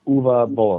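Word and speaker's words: Uwe Boll: just for his edification you pronounce his name UA oh UA UA bow yeah uh UA is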